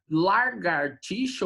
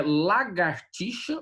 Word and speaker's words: lagartixa: Largatixa, que tem gente que fala largartixa ou largatixa, né? É lagartixa o correto, eu acho que falei errado na primeira vez, tá?